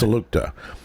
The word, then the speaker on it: Salukta: Somebody sent me how I can pronounce it correctly. It's Salukta.